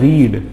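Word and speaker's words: read: और वर्ब का second form जो है ये होता है रेड। क्या होता है? रेड। लेकिन इसकी स्पेलिंग बिल्कुल रीड जैसी है, मतलब प्रोनाउंसिएशन चेंज हो जाता है, लेकिन स्पेलिंग में जो है कोई भी बदलाव नहीं होता है, ठीक है ना। स्पेलिंग बिल्कुल वही की वही रहती है, पढ़ते उसको थोड़ा सा अलग है।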